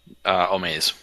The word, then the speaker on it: Omaze: you're aware of the, is it pronounced Omaze or Maz? Omaze. Omaze.